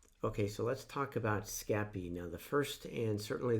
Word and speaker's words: Scapy: it and he says how do you pronounce scappy we are in france we say scappy so i'm gonna go